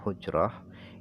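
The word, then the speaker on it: حجرة: gambar lagi bidomil ha jadi cara baca hujrah ini adalah bidomil ha dibaca dhomah hannya wahua Adapun hujroh itu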